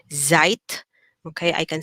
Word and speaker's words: Zeit: as a letter z the z now is pronounced like a t and a z together okay so so if i say instead of saying zeit okay i can say